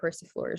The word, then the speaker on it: persifleur: Yeah, the EUR words are, it's pronounced freezer, persifleur, jongleur.